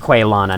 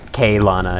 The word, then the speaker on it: Quelana: have quelona pyromancy Tome I believe it is pronounced quailona not kaylana it's not Spanish a pyromancy Tome of